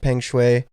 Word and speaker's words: Peng Shuai: I heard it pronounced Peng Shuai.